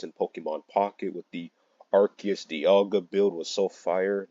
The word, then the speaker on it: Arceus: I just pronounce it Arceus. That's how the anime does it.